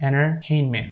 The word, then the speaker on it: entertainment: So we're not pronouncing this T here, entertainment.